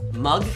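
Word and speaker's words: moong: my mom it is mug um as a lentil and it's how you pronounced m o o n g mug not not the mug that you see like M Yugi I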